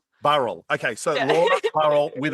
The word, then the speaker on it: Burrell: Burell. Uh, I mean that's how most Australians like to pronounce it, but but in New Zealand we say Burl. Burl.